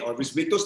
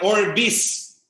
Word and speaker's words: Orbis Victus: Yung X po is pronounced as letter S. S po. Kaya Orbis. Orbis.